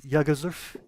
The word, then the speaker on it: Jagelsdorf: So, our guest today is Marcin from Jagelsdorf Creates. Did I pronounce that right? Jagelsdorf? Yeah, Yaroslav, that's right.